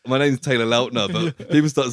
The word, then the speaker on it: Lautner: and he was like, Lautner's not how you say my name, and he was like, but it's my fault, because like when Twilight first got big, people kept saying Lautner. So what is it, like Lautner? It's Lautner.